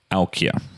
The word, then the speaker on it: Aukje: um okay excellent very nice to meet you alkia so thank you very much okay well pronounced am I pronouncing it correctly yep okay